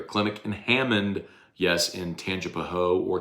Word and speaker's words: Tangipahoa: Clinic in Hammond, yes, in Tangipahoa or Tangipahoa, depending if you want to say it correctly or not.